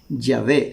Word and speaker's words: Yahvé: Los hebraístas han llegado al acuerdo general de que la pronunciación original debe haber sido Yahvé.